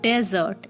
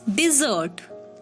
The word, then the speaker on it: dessert: the next one is desert d e double s e rt desert it's not desert it's dessert dessert gulab jamun is my